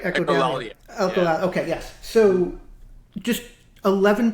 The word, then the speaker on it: Echolalia: My favorite two, and you guys have songs that are hard for me to pronounce, so I'm going to make sure that I say them correctly. Echolalia, right? Echolalia.